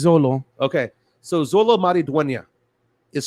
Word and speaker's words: Xolo: this name because uh how do you pronounce the first name Xolo is this is this solo I think so let me look up his pronunciation again while you look that up uh I'm gonna say I'm gonna call it Zolo yeah it's Zolo okay so Zolo maridonia